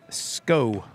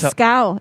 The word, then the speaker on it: Scow: Back in for the Old Abe's, number 21, Hadley Sco. It's Scow. It rhymes is. with cow.